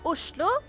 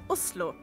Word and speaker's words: Oslo: In Norwegian, it's pronounced... Oslo. Or if you're posh... Oslo.